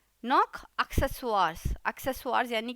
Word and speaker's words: Accessoires: और साथ में नॉक एक्सेसवार्स, एक्सेसवार्स यानी कि एक्सेसरीज, स्पेलिंग एकदम सही होती है, प्रोनाउंसिएशन डिफरेंट होता है। एक्सेसवार्स ये थोड़ा सा फ्रेंच टोन में जाता है, नेजल वॉइस आती है इसमें।